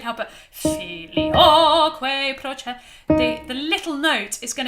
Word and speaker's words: procedit: Just answering Anne's question, how to pronounce procedit. Like that, please. Procedit. D-double-E-T, deet.